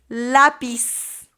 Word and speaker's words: lápiz: in the show notes it's spelled with a z at the end uh it makes kind of an S sound though in Spanish the Z so here we go